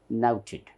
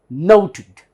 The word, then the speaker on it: noted: So this becomes nouted, nouted. And when you stress on this first syllable, now is first syllable, you stress on that, it becomes nouted, nouted. So this is the way this word should be pronounced.